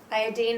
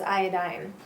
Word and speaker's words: iodine: Regarding the iodine, however you wish to say it, iodine apparently is the proper way to say it, but seems like everyone says iodine.